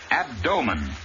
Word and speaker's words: abdomen: The word, abdomen. Accent on the second syllable, in which the O is long.